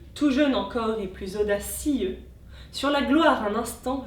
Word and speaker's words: audacieux: La diérèse sur audacieux met en valeur le mot d'autant qu'il est placé à la rime. De trois syllabes on passe à quatre. Audacieux.